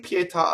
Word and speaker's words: pietà: i've written this up we sing pietà again but this time they add the interjection ah so now you're doubling the p each time the reason being right that ah is a strong model syllable it's an interjection it causes the p to double and then when you repeat ta da it doubles because of the truncation so you have up